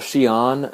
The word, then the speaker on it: Xi'an: Today I'm in Xi'an, or Xi'an as it's pronounced, and it's the home of the Terracotta Warriors.